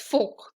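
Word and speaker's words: fork: हमें फॉर्क चाहिए, बट the right pronunciation is फोक। The R is silent over here, right?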